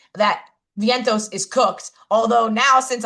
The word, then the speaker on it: Vientos: I call him Vinitos 97% of the time because my brain will not allow me to say it the right way. I don't know if I'm just hanging out with Pop Pop too much so now I'm just like mispronouncing everyone's name. Yeah that's probably it. But That Vientos is pretty straightforward.